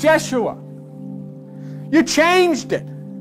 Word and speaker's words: Yeshua: Jesus his name was jehoshua pronounce Yeshua you changed it it's